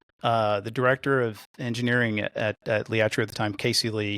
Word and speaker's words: Liatrio: The authors told their stories in a fictional way, but from my understanding, you and Liatrio, I'm pronouncing it right, Liatrio, right? You got it, Liatrio.